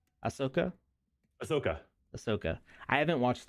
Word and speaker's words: Ahsoka: ashka yet how do you say her name Ahsoka Ahsoka Ahsoka I haven't watched that yet um